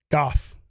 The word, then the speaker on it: Gough: It's pronounced golf. Oh, golf plus one. Oh, I see. Gary Golf. You pronounce it with an L though? Gough. Gary Gough. Okay, that makes sense.